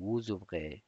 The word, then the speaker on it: vous ouvrez: nous ouvrons vous ouvrez vous ouvrez او بخیر vous ouvrez دا اس پکې تلفظ کېږي vous ouvrez.